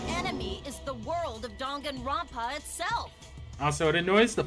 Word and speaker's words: Danganronpa: A cosplay performance of the whole wide Danganronpa world.